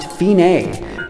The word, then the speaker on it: fine: After you go back, stop at the fine sign, which is pronounced feenay, which is Italian for end.